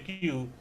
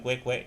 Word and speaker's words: queue: Bacanya Q, bukan kue-kue gitu ya.